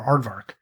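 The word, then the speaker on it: aardvark: on their thing or arvar right uh sure I yeah really my whole life I've been mispronouncing this I I think a lot of people there is an R there oh my God I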